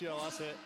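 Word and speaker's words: 幸せ: So that character is pronounced Shiawase.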